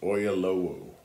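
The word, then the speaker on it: Oyelowo: um a mini series of Les Miserables starring Dominic West and David I think it's I think his name is pronounced oyalo so you can see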